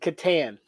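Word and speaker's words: Catan: yeah that's awesome so how do you pronounce clouse toyer game the settlers of I say Katon am I right that's what I say so we're on the same page there what other pronunciations are there so Katen katton and Katan Katan okay yeah katan's the other big Contender I was from North Carolina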